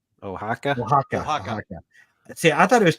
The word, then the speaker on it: Oaxaca: Ed, pronounce those names for us that Zach said. Yes. Conspiradores de Querétaro, sorry. Guerreros de Oaxaca. Oaxaca.